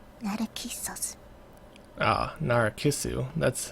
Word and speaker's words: Narcissu: the first time that it keeps us ah Nora kissu that's how you say it law saying lately